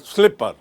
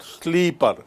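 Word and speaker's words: slipper: What we wear on food is called स्लीपर एंड नॉट स्लीपर। Remember please and pronounce it correctly.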